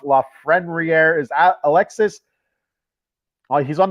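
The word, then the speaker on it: Lafrenière: If you didn't watch the episode the other day on Saturday, trying to say La Frenriere, well, there's an N in there. Throws everything off. La Frenriere is Alexis.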